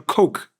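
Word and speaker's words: Koch: to collapse you've got a story of the coke they pronounced Coke in America the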